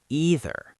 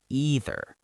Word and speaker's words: either: Some people say either with a long e sound. Either. And some people say either like the word I.